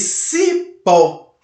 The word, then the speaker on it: cipó: A palavra cipó, você não diz cipó, você diz cipó, ok? O pó você percebe que ela fica mais evidente. O O você percebe que tem uma tonicidade forte e por isso é uma sílaba tônica.